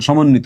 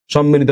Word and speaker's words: সমন্বিত: আট ব্যাংকে আসছিল বা সমন্বিত সরি সম্মিলিত না বলে সমন্বিত হবে উচ্চারণটা আমি ভুল বলছিলাম মৃত্যুঞ্জয় শব্দটি সন্ধি বিচ্ছেদ